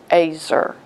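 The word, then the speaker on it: ezer: And also, Eve was an Azer. The word is spelled E-Z-E-R, but I was told it was pronounced Azer. And Azer is a strong helper, and Eve was Adam's helper.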